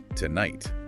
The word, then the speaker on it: tonight: And then consider the stress in tonight. Where does that fall? It's unstressed on the first syllable, two, and stressed on the second, night. So tonight, tonight.